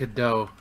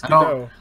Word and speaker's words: Godot: I'm gonna pronounce it Godot. I'm sorry. You were wrong. No, it's Godot.